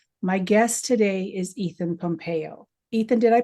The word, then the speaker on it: Pompeo: guest today is Ethan Pompeo Ethan did I pronounce that correctly that's correct yes it's Italian ah well perfect welcome